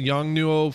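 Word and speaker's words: Yongnuo: and i don't know how to say this young nuo yeah yes that's it i have the same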